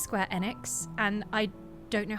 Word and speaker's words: Square Enix: I also know because of that it's pronounced square enex.